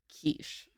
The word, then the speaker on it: quiche: Because it's spelled like quiche. Yeah, and also none of the letters that you say phonetically are how you actually spell it.